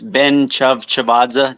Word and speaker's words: Ben-Tchavtchavadze: It's Ben-Tchavtchavadze, just like it looks. what now? Ben-Tchavtchavadze, but is fine. Ben's fine. Yeah. Okay. So, all right with me. Ben-Tchavtchavadze.